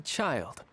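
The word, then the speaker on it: Childe: second exactly call me child that's how you say that it's not chill day it's child that's that's way less cool what so we're supposed to dote on you yes silent e that's stupid chill day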